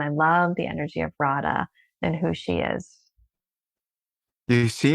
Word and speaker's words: Radha: Rhonda? wow? It's a beautiful. It's a beautiful deity, Yeah. Radha.